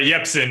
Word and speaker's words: Jepsen: a name Carly Rae Jepsen that's it or a Yepsen if you want to be a Swedish pronouncing soft J breaking yagi we need